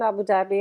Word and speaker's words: Abu Dhabi: So Bindi, you're in Abu Dhabi. Yeah. Is that how I pronounced that correctly? Absolutely, yes, Sarah. I am in Abu Dhabi at the moment.